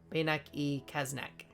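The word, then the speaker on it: Beynac-et-Cazenac: what sound that makes bayak e e not ET okay bayak e kasnak kasnak my pronunciation was great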